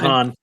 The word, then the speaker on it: DeHaan: Yeah, and I have to say that the character Jim Dooley, played by Dane DeHaan, I think is how you pronounce Dane last name? DeHaan.